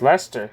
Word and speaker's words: Leicester: Huh, it's Leicester, huh?